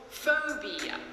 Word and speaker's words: phobia: Sounds great, but I think you probably want to say school phobia. That's a 3-syllable word with the stress on the first syllable.